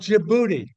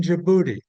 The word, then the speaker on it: Djibouti: There is down along the Bab el Mandeb Strait on the Red Sea a small city state called Djibouti. It's spelled Djibouti.